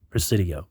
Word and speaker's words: Presidio: Say it correctly, Presidio.